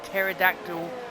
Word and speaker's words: pterodactyl: you not hear a pterodactyl going to the toilet because the p is silent P if you didn't know pterodactyl starts with a p a silent P at the start of pterodactyl that's that's why that's